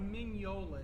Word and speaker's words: Mignola: Mike Magnolia? I would say it's Magnolia. like Mignola is the way you pronounce it. I think that's probably right.